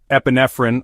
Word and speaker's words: epinephrine: risk of dexin toxicity epinephrine also known as adrenaline and pronounced Epi nephrin this is the firstline